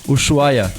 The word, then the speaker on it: Ushuaia: Yeah, how do you pronounce it? Ushuaia? Ushuaia, okay.